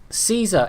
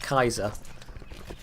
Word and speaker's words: Caesar: until relatively recently but Caesar is wrong anytime we say Caesar that he's actually pronouncing it wrong the Germans had it right it is basically pronounced Kaiser and that's why the